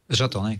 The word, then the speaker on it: Zotonic: zonic Z yeah zonic zonic zot like isotonic and then zonic zonic great got it